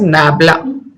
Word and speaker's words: nabla: This is pronounced as Nabla.